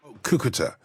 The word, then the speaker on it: Cúcuta: Souter alongside the aid is it suited you pronounce that statement yeah cúcuta what's it like there had the border what